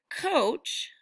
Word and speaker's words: coach: And this word coach is also a bit tricky because it has the O sound like in the word home, but it's spelled with the letters O and A. So in this word coach, the letters O-A make the O sound like in home.